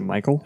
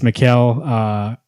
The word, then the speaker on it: Mikkel: realized from the interview we've been saying the kill Jenna's name wrong this whole time is it Michael it's Mikkel honey it's all so which